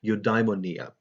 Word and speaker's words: eudaimonia: If you transliterate that into the Roman alphabet, it's pronounced eudaimonia, right?